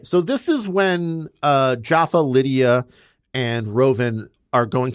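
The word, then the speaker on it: Japha: Can I Can I just tell you because his character's name is Jaffa, I just keep thinking Jaffa cake.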